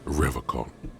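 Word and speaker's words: Revachol: forever call it pronounces rivercon with a hard K unlike other people I like to pronounce it the hard way the old way the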